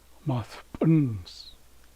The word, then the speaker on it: Maspunz: Then, it switches again. Maspunz. Maspunz. So, we're accenting the last syllable again.